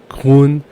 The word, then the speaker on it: grün: You might notice that grün is with umlaut. That means you don't say grün. Normally you say grün.